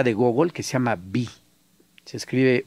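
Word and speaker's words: Viy: Bueno, ya vi que te fascina, no solamente su obra, sino su personaje, su personalidad.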